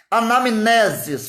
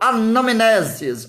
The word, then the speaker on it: anamnesis: Anamnesis, fala comigo, anamnesis. O N, E o M e o N estão juntos. O M é mudo.